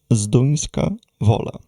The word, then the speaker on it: Zduńska Wola: So this is how we pronounce them. A bit further east from Sherats is a city called Zinska va.